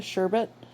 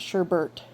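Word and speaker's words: şerbet: Aside from water, this carbonated drink is flavored with fruit, which makes it very similar to sherbet. And yes, that's how you say it, sherbet, not sherbet. It's sherbet.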